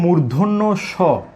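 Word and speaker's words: মূর্ধন্য ষ: তাহলে আমরা একটু আগে শিখেছি, এখানে দুটি বর্ণের কিন্তু উচ্চারণ আমরা শিখে নিয়েছি, যে এটাকে বলবো মূর্ধন্য স, মূর্ধন্য ন, মূর্ধন্য স, মূর্ধন্য স।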